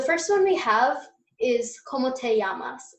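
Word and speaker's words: cómo te llamas: one we have is como te llamas anytime you have a double L in Spanish when you're pronouncing it you treat it as a Y so como se llaman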